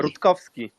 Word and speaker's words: Rutkowski: I, have- tell us, how do you pronounce it properly? Rutkowski.